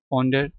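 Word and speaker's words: ponder: कंसीडर कंटेंप्लेट अह कंटेंप्लेट पोंडर regard वज़रे गोल्डना British accent में are silent है American accent में इसको प्रोनाउंस किया जाता है तो पोंडर आप कह सकते हैं पोंडर ठीक है तो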